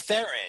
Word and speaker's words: Theron: Is it Theron, or were you pronouncing it? Well, it's Theron.